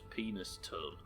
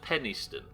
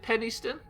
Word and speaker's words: Penistone: thing in the world that somebody's surname was Penis Tone.